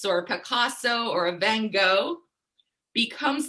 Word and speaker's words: Van Gogh: And like this artist, Vincent van Gogh, or Van Gogh, as I'm hearing is the proper pronunciation, his work from 1889 still resonates with us over 100 years since he painted this.